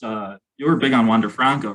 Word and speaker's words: Wander Franco: put 50 bucks on water franco and i'm going to see you boys you'd think if you loved the guy so much you could say his name right it's wander franco franco all right i don't